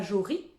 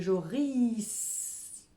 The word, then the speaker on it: Joris: Il ne s'appelle pas Jory, mais Joris.